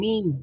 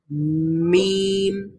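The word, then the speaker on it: م: তাহলে মিম আমরা কিভাবে উচ্চারণ করব? এটা উচ্চারিত হবে, হ্যাঁ, দুইটা ঠোঁট যখন আমরা বন্ধ রেখে একটু বন্ধ রেখে তারপরে খুলে ফেলবো এবং সাউন্ড বের হবে নাক দিয়ে, তখন মিম উচ্চারিত হবে।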